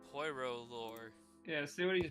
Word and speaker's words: Poirot: Poirot. You don't pronounce the poi.